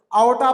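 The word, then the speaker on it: aorta: आर वहां पर silent रहता, आओटा प्रोनाउंस करेंगे उसको।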